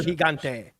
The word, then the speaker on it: Gigante: You pronounce the G like it. El Gigante.